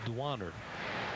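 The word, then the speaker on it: Duaner: Dwainer. Well, here they say in their book it's pronounced Dwaner. Dwaner. That would be right, seeing he is from the Dominican Republic.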